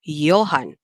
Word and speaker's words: Johann: The first letter there is the letter J, and the letter J is actually pronounced in the German language as Y. So, for example, instead of saying the word Johann, okay, we say Johann.